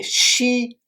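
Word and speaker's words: 希: Le premier caractère, c'est Shi, X-I, premier ton qui s'écrit de la manière suivante.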